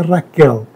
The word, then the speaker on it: Rachel: memória minha mãe chamava Rachel né um nome um nome e eh italiano que se pronuncia Raquel né com ch Raquel mas tinha um diminutivo